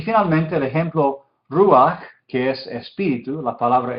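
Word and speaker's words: רוּחַ: Entonces es ruach, ruach. ¿Sí? Se dice la shurek y la patah casi juntos, ruach.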